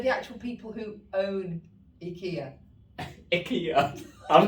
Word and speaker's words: IKEA: is it sorry no apparently the proper way to say is ikea but no one ever